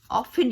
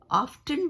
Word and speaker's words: often: लेकिन इसको जो ज़्यादातर जो लोग हैं वो ऑफन यूज़ करते हैं, टी का साउंड नहीं निकालते हैं, लेकिन इंग्लिश में इसके दोनों कहते हैं कि दोनों जो है वो प्रोनाउंस सही हैं। ऑफ्टन भी बोल सकते हो और ऑफ़न भी बोल सकते हो।